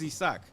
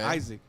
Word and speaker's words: Isaac: So e-sac my name is Esack. Okay. Isaac. Got it. So e-sac is how you say it in Spanish.